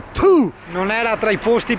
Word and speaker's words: Ptuj: Ho azzardato questo parcheggio selvaggio perché siamo a PTUJ, probabilmente la pronuncia corretta è PU.